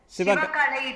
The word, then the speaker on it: Sivagalai: Help us with the pronunciation because I'm sure I'm getting it wrong. Kiladi. Sivagalai it is called.